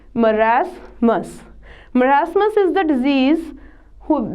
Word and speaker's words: marasmus: are number one is merasmus pronunciation of this is marasmus merasmus is the disease